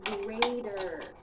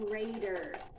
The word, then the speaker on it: grater: I grate the cheese with a grater. I grate the cheese with a grater. Notice that the T in grater sounds like a D in American English.